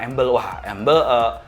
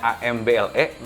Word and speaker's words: Amble: Tapi kalau embel teh karena tulisannya AMBLE, ada juga yang apa ini tuh dibacanya amble.